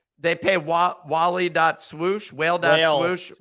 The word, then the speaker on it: Wale: that like they pay Wally dot swoosh well done well it's spelled Wale okay uh and I'm from DC so that's what what we how we say it there uh and then and